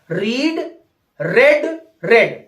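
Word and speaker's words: read: third form होते हैं वो तीनों समान है रीड रेड रेड बिल्कुल हां प्रंस थोड़ा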